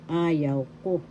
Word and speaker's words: ayaw ko: First syllable a, second syllable yaw, third syllable ko. The first and the third has the accent. Ayaw ko.